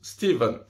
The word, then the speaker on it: Stephen: Et si jamais, en anglais, Stephen et Steven, bah, ça se prononce la même chose, les deux se prononcent Steven.